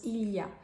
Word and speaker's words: il y a: more thing it's about how French people commonly pronounce Ilia because in fact in casual conversation is often shortened to sound like y so you might actually